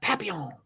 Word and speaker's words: papillon: My dog is a papillon.